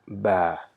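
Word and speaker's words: باء: lips and pronouncing ba so it is pronounced by joining the weight part of the top and bottom lip of our mouth and saying ba okay ba so this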